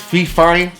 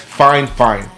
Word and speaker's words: FiFine: e all right you would think it says fee fine no but it says fine fine that's how it's pronounced all right um a lot of good